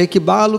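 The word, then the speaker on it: ἐκβάλλω: Na pronúncia Equibalo, que significa, né?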